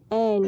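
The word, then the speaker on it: ع: इसके लिए हिंदी में है ए और इंग्लिश में है ए और ई। जब साथ में मिलकर वर्ड बनाते हैं तो उसका प्रोनाउंस होता है ए।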